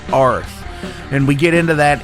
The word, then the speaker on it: Arð: see by the lettering, it says like A-R-D, but it's actually pronounced Arth.